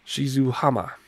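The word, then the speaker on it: 静浜: Airport Romeo Juliet and November Yankee which is pronounced Shizuo hama that's where we're landing runway 27 there there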